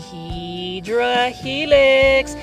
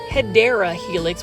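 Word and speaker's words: Hedera helix: Hedra helix. Now for those that are new to the channel, I mispronounced hideera helix which is the correct way to say it for English ivy.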